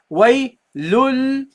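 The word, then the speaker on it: وَيْلٌ لِّ: You drop the tanween. You don't say waylun. You say waylul. So you replace the noon with a lam.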